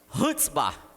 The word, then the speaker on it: chutzpah: Fala assim, Hutzbah. Hutzbah. Porque tem base alemã essa palavra. São os judeus na Alemanha que criam essa pronúncia.